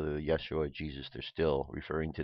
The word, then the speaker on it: Yeshua: how Yeshua became Jesus the first letter in the name Yeshua is the ODE okay right here yote represents the letter Y sound in Hebrew many names in the